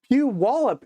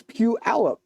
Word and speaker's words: Puyallup: She's having fits over the mispronunciation. Puyallup is correct. Well, then why is everyone telling me it's Puyallup?